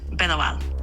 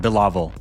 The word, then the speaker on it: Bilawal: How's my name pronounced? Your name is pronounced Bilawal. Actually, that's wrong. It's pronounced Bilawal.